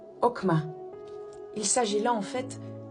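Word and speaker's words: חכמה: Le premier est bien entendu le mot sagesse, qui se prononce okma.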